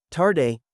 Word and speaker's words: tarde: Tarde is, tarde. The D sounds a bit like a soft G.